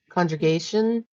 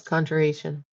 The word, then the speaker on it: conjuration: start be reading through a book on um, congregation. Just kind of studying up. Uh, I'm probably not saying it right. Conjure Conjuration. Yes. Conjuration.